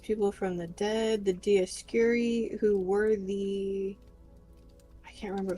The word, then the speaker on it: Dioscuri: The Dioscorio? Dioscuri. Dioscuri? That's it? Yeah. Meaning... like I said, I remember how to pronounce them.